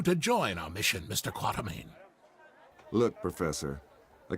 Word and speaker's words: Quatermain: Quatermain? I just thought it was Quartermain. Maybe they're just mispronouncing it in that movie.